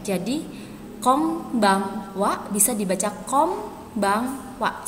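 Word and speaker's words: こんばんは: dalam bahasa Jepang itu Kombang Wa Kombang Wa huruf N apabila ketemu huruf b disini bisa dibaca m jadi Kombang Wa bisa dibaca com Bang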